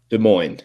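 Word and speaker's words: Des Moines: De Mo, you say it right? De Moines's Iowa. De Moines.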